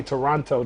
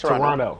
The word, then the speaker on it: Toronto: cannot say Toronto. The second T is silent. So Yeah, it's Toronto.